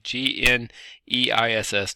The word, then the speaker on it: gneiss: Okay, G-N-E-I-S-S, gneiss, which is kind of like new. You don't pronounce the G, G-N-U, just the news.